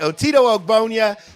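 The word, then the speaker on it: Otito Ogbonnia: rams my guy is otito obonia i think that's how you say his name that's right otito ogbonia he's from ucla he's an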